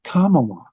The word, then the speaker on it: Kamala: And I mean, think of if we were in the second grade, the teacher would be saying, it's Kamala. You know, she wouldn't allow the kids to mispronounce it.